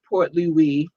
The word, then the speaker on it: Port Louis: in new york i love you port louis portly we because we got to say it right pointless